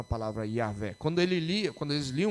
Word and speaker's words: Yahvé: Eles não pronunciavam a palavra Yahvé. Quando eles liam o texto onde tem a palavra Yahvé, eles pronunciavam Adonai. E por causa disso é que nós temos uma pronúncia provavelmente equivocada, Jeová.